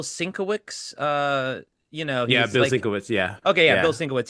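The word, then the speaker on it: Bill Sienkiewicz: still have that um D how do you pronounce his name the artist Bill swick uh you know yeah Bill Switz yeah okay yeah Bill Switz yeah he used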